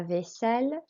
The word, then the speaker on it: vaisselle: Vaisselle is as it looks, a long S sound with a double S, and the L's are pronounced.